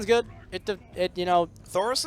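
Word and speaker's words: Thaurissan: win the game there's thorian Thor's good it it you know thoris or thorian thoris thoran th there's no extra I a oh okay but yeah it is thoran I just suck at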